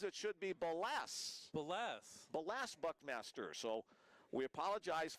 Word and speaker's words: Ballas: Got a text message, a follow-up text from Alaska, and apparently we've been mispronouncing Ballas Buckmaster. His grandpa says it should be Ballas.